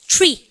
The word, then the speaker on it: tree: 발음을 다 try 그죠? 나무 크리스마스 다음 뭘 합니까? 그러면요 트리미가 트리미가 tree 아 잘하셨습니다.